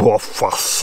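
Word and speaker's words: Rothfuss: Und aber er spricht sich wohl Woffers oder so ähnlich aus.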